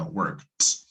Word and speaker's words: worked: Entonces, en este caso sería worked, worked. Es decir, la ED la reemplazo por una T.